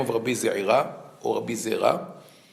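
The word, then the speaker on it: זעירא: the name of Rabbi Ze'ira, or Rabbi Zera. His name was Rabbi Ze'ira in Bavel, but in Eretz Israel, people couldn't pronounce the Ain, so they turned him into Rabbi Zera.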